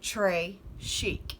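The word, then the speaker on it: très chic: a bracelet tres chic you say it like this tre chic it means very fancy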